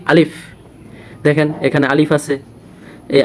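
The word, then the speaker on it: ألف: মুখ নামাবো তখন বসাব দেখেন আমি কিভাবে বলি আলিফ আলিফ দেখেন বাতাস বের হবে আলিফ যদি বাতাস বের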